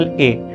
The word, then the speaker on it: へ: कर लेते हैं, पार्टिकल ए। याद रखिएगा कि इट is spelled as HE, बट इफ यू are pronouncing it, अगर आप उसको प्रोनाउंस कर रहे हो तो आप प्रोनाउंस करोगे ए, नॉट हे।